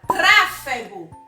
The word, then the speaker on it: tráfego: Vou falar de outra palavra, tráfego. Tráfego. Então, qual foi a sílaba que mais demorou? Foi trá. Então, a sílaba mais forte é a antepenúltima sílaba.